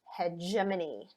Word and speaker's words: hegemony: like they're regular terms okay this word is pronounced hegemony and it's about power okay what this theory